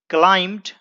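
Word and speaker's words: climb: ऊपर चढ़ गया एंड क्लाइम दोस्तों यहां पर बी को नहीं पढ़ते हैं यह साइलेंट है क्लाइम टू द टॉप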